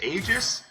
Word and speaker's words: Aegis: I'm open to being wrong about that, but that's just what I had learned. Is that AE character is supposed to be pronounced Ah.